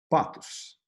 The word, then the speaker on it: pathos: Que com o TH se falaria pathos, que aí até a gente ouvindo essa palavra pathos desse jeito, falando assim, a gente perdeu essa pronúncia do TH no meio da língua, né? Em inglês não, em outras línguas não, mas aqui a gente perdeu.